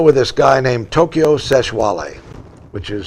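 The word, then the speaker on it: Sexwale: on the show with this guy named Tokyo seshwale which is spelled sex whale that's how you put but that you pronounce it seshwali so uh Tokyo said kinky I want to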